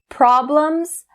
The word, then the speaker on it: problem: So the first one, problem. That blum sound. Problem. And the next one, trouble.